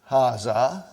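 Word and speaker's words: هَٰذَا: Haza. See, it is pronounced like Haza. But this alif is not written.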